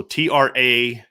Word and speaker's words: Traore: So TRAY-OR-EEE is what they have in the pronunciation guide. So that's what I'm going with on that one. Cause I heard Coach Freeman say Treo, and I wonder if